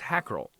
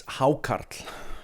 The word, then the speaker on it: Hákarl: that comes from the Greenland shark known as hackel at least that's how it looks like it sounds when I when you read it on paper but I'm definitely pronouncing it wrong it's haart icelantic word for Shar is haart so we